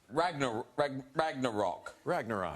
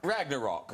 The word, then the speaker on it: Ragnarok: tell us about the latest Thor movie, Thor Ragnarok. Ragnarok. Yeah. I lost confidence then. I know. I thought I knew how to say it, but Thor Ragnarok. Ragnarok.